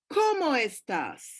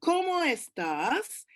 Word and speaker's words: cómo estás: Now take care with the emphasis. Spanish does not have question form like English. How are you? You don't have that. So, ¿cómo estás? It's all in the flexion of the voice, in how you pronounce things. And it has to go up.